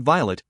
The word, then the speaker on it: Violet: of Grandmama's illiteracy that she changed the pronunciation to rhyme with plate however I am not ashamed of my grandmother so I pronounce it Violet as in the delicate flower to rhyme said Horus with pilot as in ponches the handwash